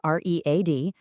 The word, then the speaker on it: read: The spelling is zero change, R-E-A-D, but the pronunciation is different. So in the present, it sounds like read. I read every day. But in the past tense, it sounds like the color red.